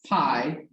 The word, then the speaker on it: pi: the symbol that looks like that and it's pi but it's pronounced like pi and sometimes they make it